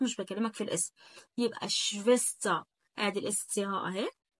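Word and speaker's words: Schwester: يبقى شفيستا. آدي الاس سي ها أهي لو لك مثلا. وبعد كده عندك الاي ار بره لا تنطق صوت الاي بس ما اقولش شفيستر ولا شفيستغ. الكلام ده طبعا ممنوع.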